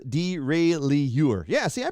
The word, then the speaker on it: derailleur: Paul says derailleur. Yeah, see, I pronounced it right.